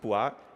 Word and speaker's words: POIS: important sampling or dois it's pronounced POIs which is the Italian word for polka-dots our surrogate function is